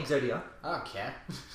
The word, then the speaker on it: Exodia: a special summon and it's not exodius just like what is Exodia I don't care say